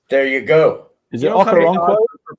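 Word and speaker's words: Okoronkwo: I love the Okoroko. Was that it? How you say his name? Okoronoko is his name.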